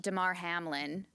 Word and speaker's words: Damar Hamlin: The NFL and Damar Hamlin. Am I pronouncing that right?